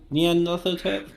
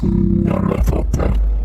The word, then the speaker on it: Nyarlathotep: Nian Nothotep? It's pronounced Nyarlathotep.